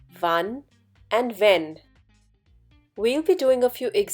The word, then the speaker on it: wenn: these three words: wen, wenn, wann. Just a few alphabets make the difference in their pronunciation. Do pay attention. In wen, there is a longer A sound, whereas wenn has a short one.